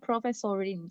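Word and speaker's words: Professorin: Oke, jadi bacanya itu profesorin.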